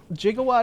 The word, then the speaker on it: gigawatt: people might just like jigawatt is a per apparently an accepted pronunciation of gigawatt what jigawatt sounds funny